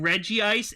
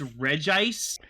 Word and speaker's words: Reg Ice: It's not even Reggie Ice, it's Reg Ice. There's Yeah, only one I in the I'm name.